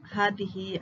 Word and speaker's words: هذه: كلمات فيها ألف تنطق ولا تكتب: ألف المد الموجودة في أسماء الإشارة كهذا، هذه، هذان، هؤلاء، ذلك، كذلك، أولئك. إذن عزيزي الطالب هذه الكلمات نقوم بلفظ الألف ولكن لا نكتبها. ألف المد في الضمير المبدوء بهمزة مع هاء التنبيه: ها أنتم، ها أنتما. ألف المد في الله، الرحمن، إله، لكن، طه، التنوين.